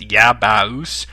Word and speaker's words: Yabause: For the Saturn, which I've only done one video, I have, I don't even know how to say this, but it's Yabaus, YABAUSE.